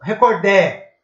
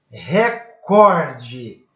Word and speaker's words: recorde: Recorde ou recordé? Recorde. Recorde. Ah, professor, mas aquela televisão lá, Record, não, pá, nada a ver, né, galera? Vamos acordar aqui. Recorde mundial, né? Recorde, eu tenho a sílaba tônica na penúltima.